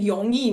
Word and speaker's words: 容易: I know, so that's 'r' they sometimes pronounced as 'y'. So they were saying yongyi not 容易 — róngyì for easy.